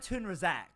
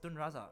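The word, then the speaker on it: Tun Razak: Jalan whatever Jalan tunraac that's how they say it and I'm like no it's tunraza like bro jala.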